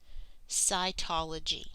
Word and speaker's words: cytology: a particular branch of science and this is pronounced SCI ecology cytology what is a human cell cells are the